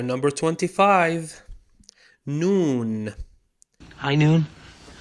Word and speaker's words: نون: Noon. High noon? Noon. No, not the time of the day. Noon. The N of the Arabic alphabet. Pronounced exactly like the letter N.